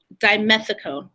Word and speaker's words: dimethicone: And it's also going to have, I can't say this word right, dimethicone.